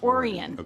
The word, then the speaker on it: Orion: there and his brother Oran had a printing press there. Oran, what a great name. Like Orion. It's Orion, but it's pronounced Oran.